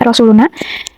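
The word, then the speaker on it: رسولنا: Selanjutnya ini ada baris keempat yang bacaannya Rasuluna. Nah, Rasuluna ini tajwidnya itu mat tabi'i. Dia itu dibaca panjang 2 harokat pada huruf na. Jadi dibacanya seperti ini. Rasuluna, Rasuluna, kayak gitu. Kurang lebih kayak gitu.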